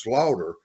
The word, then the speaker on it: Schlater: country between Slater and iina and it's actually pronounced Slaughter but it's spelled Slater so it confuses people